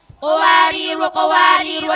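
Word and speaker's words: قوارير: Qawariru, cara membacanya ada 3. 1. Berhenti pada Qawariru ayat 15, wanya dibaca panjang. Selanjutnya pada Qawariru ayat 16, wanya dibaca pendek.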